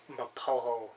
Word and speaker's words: Mapogo: Well, it's spelt Mapogo, but it's like Swahili. So it's like Mapoho.